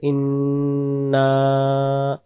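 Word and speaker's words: إنا: ইন্না প্রথম যে ইন্না এটাকে আমরা টান দিতে দিতে হবে ইন্না ইন্না টান দিতে হবে যদি আমরা টান দিতে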